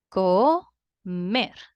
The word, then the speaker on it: comer: Comer. 2 syllables. Comer. Mer is the strongest part of the word, which means that this word is also aguda.